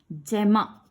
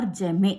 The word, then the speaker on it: gemma: The asexual reproduction, one is by the fragmentation, another one is by formation of the gemma or gemme, you can pronounce it either way.